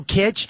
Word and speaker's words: kitsch: but that ain't no kitsch. I said kitsch. You don't know what it means? Look it up. Wikipedia that shit, bitch, because that's why I say kitsch. It rhymes with other things, like bitch.